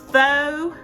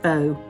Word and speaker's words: faux: Now th means like I guess fake kind of pretending to be so or fa I don't know how you pronounce I'm in the south so I say faux but it substitutes I guess sour cream and apple cider vinegar in the recipe.